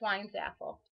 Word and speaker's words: Weinzapfel: me um I'm wine zappel welcome to my studio a lot of people ask how do I say my last name the p is silent it's Wine's Apple proud of it and